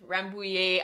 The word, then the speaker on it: Rambouillet: Rambouillet. I need to like have a lesson with her of like how to say it exactly. So Rambouillet, actually I have my skein right here, so let me grab it.